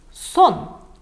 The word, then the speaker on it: сон: например с кокеткой вот сон шуба сон шуба если в русском например слове сон идет с длинной с длинным произношением звука о то здесь очень короткое произношение вот мы говорим быстро Сон Сон это означает шуба это